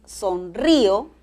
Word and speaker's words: sonrío: Nótalo, es sonrío, acento en la I, sonrió, acento en la O.